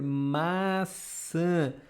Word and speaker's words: maçã: It's kind of this nasal sound, but like in English you have the word a, but you have to pronounce with your nose.